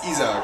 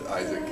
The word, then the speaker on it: Isaac: Well, officially it's Isaac. Isaac. But, yeah, well, internationally it's Isaac. Isaac. Whatever you want.